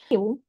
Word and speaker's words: new: New. New. New. New. It's not new. Ok. It's new. Então, como se fosse nu, só que com um toquezinho.